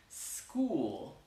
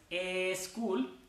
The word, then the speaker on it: school: I went to school, sin decir una E al principio. Entonces practiquen eso. School, school. No es a school, eso no.